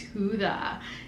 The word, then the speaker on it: Judah: i love the name judah and as i did not like that he was like it's huda and that's just it's not how i would pronounce it so it was just